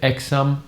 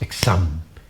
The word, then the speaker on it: exam: The same goes with the word exam. You don't say, please don't say exam, because it is so wrong. You pronounce exam.